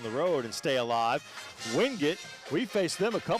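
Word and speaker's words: Wingate: Carolina and and they they pronounce it wing it up there.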